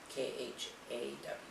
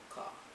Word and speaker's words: Khaw: It's spelled K H A W, Khaw. So, I'm going to say Khaw.